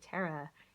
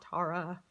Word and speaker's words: Tara: about this goddess, and how to pronounce the name correctly. Tara. It is not Tara.